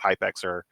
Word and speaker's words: Hypxr: It's pronounced Hyper by the way.